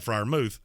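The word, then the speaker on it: Freiermuth: his name is pat fryermouth if you wanted me to call you pat friarmuth maybe you should spell it that way but there's no oh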